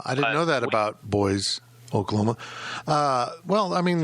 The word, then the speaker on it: Boise: the one in Idaho it's spelled like Boise but as I learned in the thread it is pronounced boys which is lame uh